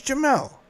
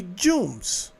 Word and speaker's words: Jamal: My name is Jamal. He called me Jooms. And even when he tried it came out Jumel, not Jamal, JL.